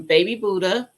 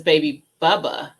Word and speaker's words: Baby Bubba: some baby boo some baby Buddha no it says baby bubba baby Bubba okra I said it wrong the first time Clemson spineless some candle